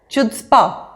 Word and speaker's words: chutzpah: in a positive way Chutzpah rhymes with foot spa Roy had the chutzpah